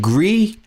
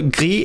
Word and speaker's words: Gris: So it's not, because it's so gris is French for Spanish, but this is French for gray, but this is actually supposed to be Spanish, which the S is pronounced, interestingly enough.